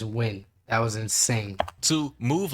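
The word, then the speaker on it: Nguyen: My boy said nuke. Okay, look, I got Vietnamese family, so I'm gonna let them slide, but it's win.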